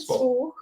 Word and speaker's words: SWALK: We said Swark. Swark. Oh, Swark. We didn't pronounce the L, dear. There's a silent L.